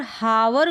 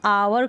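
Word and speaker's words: hour: यू को आओ पढ़ेंगे और आर को तो यहां पर हावर करके नहीं पढ़ेंगे इसको अवर करके पढ़ेंगे अवर यहां पर उच्चारण हो जाएगा हा यहां पर साइलेंट है अवर मतलब कितना घंटा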